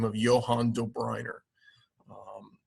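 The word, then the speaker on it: Döbereiner: Johan do Briner um now do Briner you'll notice in the um class notebook uh it's just spelled with an O but uh he's German and so in in the German language uh those O's sometimes have two dots above them it's called an UNL um I actually wasn't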